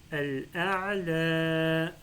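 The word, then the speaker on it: الأعلى: S'il y a fatha, en réalité, c'est un alif qui est déguisé en ya. Et du coup, là, je dois prononcer un prolongement de fatha. Je lui dis al-a'la.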